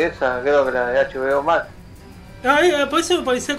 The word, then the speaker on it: HBO Max: Bomax, dice HBO Max. ¿Cómo le decía? Pero claro, después... le digo, era HBO Max, y entonces le dice Bomax. No le pronuncia la H, de la H muda.